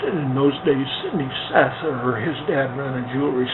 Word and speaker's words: Sather: It's called Sather Gate, and it's spelled S-A-T-H-E-R, Sather. So Sid Sather, when I was a little tiny guy, he now pronounces that name Sather, and he has a wonderful jewelry store.